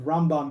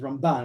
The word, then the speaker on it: Ramban: in the yeshivas of ramban versus ramban we put the emphasis on the first syllable versus the last syllable uh that's just how